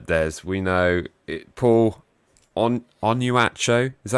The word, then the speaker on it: Onuachu: our knowledge uh there's we know it Paul on on you at show is that how you pronounce it yeah yeah you did pretty well